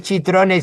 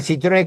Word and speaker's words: Citrone: No, bueno, podría hacerlo, pero no es chitrone. Citrone con C, ¿no? En italiano la C se pronuncia C.